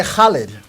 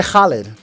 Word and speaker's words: Khaled: story of the day DJ holid DJ Khaled that's how you put another valid solid another one proper pronunciation DJ holid legendary he's gonna be